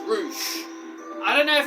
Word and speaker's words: Rush: find confusing about it it's spell rush but they say his name is roou I don't know if